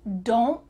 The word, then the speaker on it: don't: Usually that T in negative contractions is cut out.